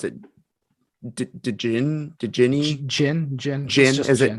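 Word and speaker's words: Djinn: to pronounce it did ginny jin jin jin is it okay so the d is silent okay got it gin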